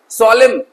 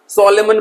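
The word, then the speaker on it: solemn: है ना सोलेम गंभीर कुछ बच्चे इसे गलत प्रोनंसिएट करते हैं सॉलेमन पढ़ते हैं क्या पढ़ते हैं सोलेमन तो प्यारे बच्चों एन को आपको को क्या करना है? इसमें साइलेंट कर देना है। एन को प्रोनंसिएट नहीं करना है। ठीक है? एस ओ एल ई एम बस पढ़ने में इतना ही आएगा। एन साइलेंट रहेगा। सॉलेमन मत पढ़ना।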